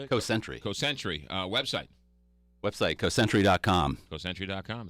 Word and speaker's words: Cosentry: Cosentry.